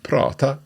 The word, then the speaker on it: prata: Now both "tala" and "prata" have got two 'a's in them but the second 'a' is a little shorter.